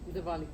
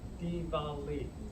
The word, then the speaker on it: Diwali: It is not, I'm going to mispronounce it, Diwali. Diwali? Yeah. Diwali.